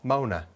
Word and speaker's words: Moana: And we've got Moana or Mona, because it's spelled the same. M-O-A-N. Moan. Moana. Moana. It's Moana.